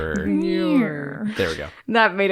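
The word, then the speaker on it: Muir: I'm just laughing because I was sure I was going to mispronounce his name mirror I'll just out myself yes John Mir let's all say it Mir there we go that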